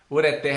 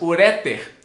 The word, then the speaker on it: ureter: Então se você falar ureter é correto. Se falar assim, ureter, errado.